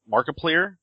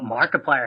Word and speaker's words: Markiplier: not a huge YouTube fan so it's mark markiplier is that how you pronounce that markiplier markiplier there you go that